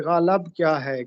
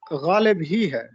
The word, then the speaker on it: غالب: 2-3 تلفظ ہیں جو خالص پنجابی لہجے کی وجہ سے زبر کے ساتھ ادا کیے گئے اور بعد میں آپ